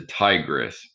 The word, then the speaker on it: Tigris: paper uh the one right here is the tigress river okay it's almost sounds like tiger and it's almost spelled like it's it's t-i-g-r-i-s so the tigris river